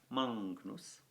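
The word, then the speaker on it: magnus: Then we have Mangnus. Now, remember, GN in Latin is pronounced as if it were NGN, Mangnus.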